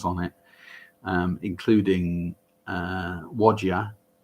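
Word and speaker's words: Whadya: it um including uh wodya um which is spelt w-h-a-d-y-a the most beautiful song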